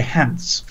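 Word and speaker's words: Hance: Stephen Hans, or as you would say, Hans. and here's the to rhyme with pants.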